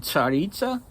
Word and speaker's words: Tsaritsa: So a Tsar in Russian, it's spelled, in Russian there's a letter TS. It's a single letter that makes the Ts sound. So in Russian it's pronounced Tsar and Tsaritsa.